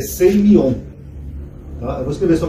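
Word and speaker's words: σημεῖον: Em grego, esse termo aqui, sinais, é seimion. Tá? Eu vou escrever só como é que se pronuncia aqui.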